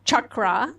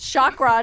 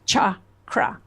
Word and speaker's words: chakra: what is a chakra okay the word is chakra okay it's not chakra and and I by